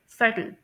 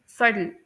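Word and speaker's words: subtle: हमारी जो eight example है उसे यूके में प्रोनाउंस करते हैं सटल, और यूएस में सडल। ठीक है। यूएस में जो टी की साउंड है वो सॉफ्ट डी की साउंड के तौर पर प्रोनाउंस की जाती है, सटल, सडल।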